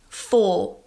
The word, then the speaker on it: for: let's look at four four so I'm not pronouncing that r at the end this is very typical of most British English accents American English would pronounce